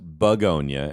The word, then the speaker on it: Bugonia: Yeah, because it's I guess it's pronounced bugonia as opposed to I walked out